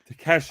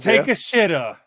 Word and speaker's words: Takeshita: Yeah, Takeshita. I'm not gonna say it like Eddie. What is it? The other guy says it. Take a shitter.